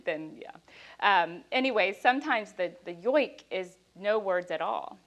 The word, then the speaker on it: joik: I think in, if we look at the word, we pronounce it joik, but it's yoik.